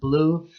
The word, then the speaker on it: BLVE: And Blue, it's spelled BLVE.